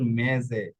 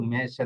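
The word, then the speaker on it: mese: এই যে দেখুন এটা মেজে হয়ে গেছে, এটা কিন্তু মেশে না, এটা হয়েছে মেজে।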